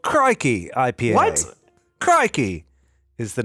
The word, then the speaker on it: Crikey: They even on the side spell it out for you phonetically, like cry, CRYKEY, if you couldn't read.